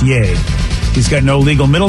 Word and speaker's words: Ye: Kanye Kanye West has changed his name Hawaii pronounced yay he's got no legal middle name he has